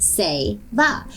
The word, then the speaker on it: Seva: equally and doing Seva Seva is pronounced say ba and it means to help those in need